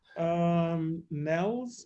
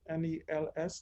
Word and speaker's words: Nels: Nels, is that how you pronounce it? N-E-L-S, Nels or Nels?